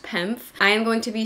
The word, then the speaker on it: PEMF: the full sized pimp mat and I was pronouncing it pemf but it's just pronounced penf I am going to be sharing with you